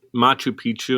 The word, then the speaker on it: Machu Picchu: weird so here you are in the moment machu picchu am i saying it right yeah which i